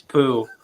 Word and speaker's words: Pu: Pu, not Pu. It's Pooh, like Winnie the Pooh.